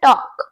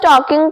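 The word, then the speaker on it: talk: टॉक for example, she वॉज टॉकिंग टू मी at that moment. उस समय वो मुझसे बात कर रही थी। एंड ध्यान रखना यहाँ पर एल साइलेंट है, सो आपको एल साउंड नहीं देना।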